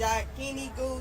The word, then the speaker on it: Yakiniku: Alright, April said it's Yakiniku.